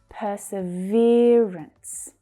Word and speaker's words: perseverance: Perseverance. Perseverance. Don't forget that consonant sound at the end, or that double consonant.